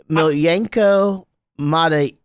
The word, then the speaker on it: Miljenko Matijevic: It's Miljenko Matijevic.